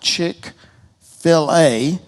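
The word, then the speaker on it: Chick-fil-A: idea why don't we call it Chick Filet uh as in filet minan and debone chicken breasts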